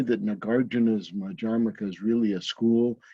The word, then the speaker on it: Madhyamaka: In any event, he founded this Madhyamaka school, mispronounced often as Madhyamika, but it's not Madhyamaka.